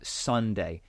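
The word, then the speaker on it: Sondae: guy who is called Sunday um so it's said like like the like the name but it's spelled s o n d a e he's a young English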